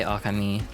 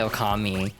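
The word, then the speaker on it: Ōkami: Uh so like I say okami cuz a lot of people say okami which is like I don't think technically wrong but the accent is on the the the first O.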